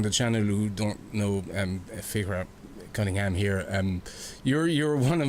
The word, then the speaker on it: Fiachra: How to pronounce it and spell it. It's Fiachra.